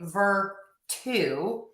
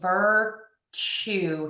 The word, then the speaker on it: virtue: And then also when we have the letter T and then that u sound we're going to say ch. So I wouldn't say virtue, we would say virtue here.